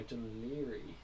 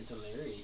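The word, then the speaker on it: Dún Laoghaire: In reality, it does go inland, and I guess the next built-up area would be Docky or Dunleary, to spell it wrong. That's the English way of saying it, but weirdly enough.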